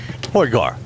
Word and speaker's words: Højgaard: did you uh note the pronunciation there jay rasmus yes absolutely poor guar yeah we're gonna skip the d sometimes we tend to anglicize things a little bit so you can see